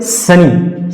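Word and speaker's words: sunny: उसी तरह से सनी, सनी, भले ही यहां पर डबल एन आया है, लेकिन फ्रेंड्स डबल एन होने के बावजूद भी इसका उच्चारण सिंगल में होगा, सनी।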